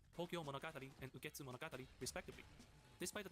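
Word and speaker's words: 東京物語: He is Tokyo story and to get pronounced Tokyo Monogati and Monogati respectively.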